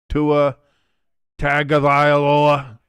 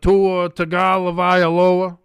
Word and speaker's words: Tua Tagovailoa: Whenever Tua plays bad, you have to pronounce his name like the president did. Tua Tagovailoa. If he's not injured, he's a great guy. He's a good guy. We'll see. I don't know. But Tua Tagovailoa.